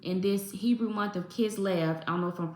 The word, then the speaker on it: Kislev: Lord is saying in this Hebrew month of kid L I don't know if I'm pronouncing it right it's k i s l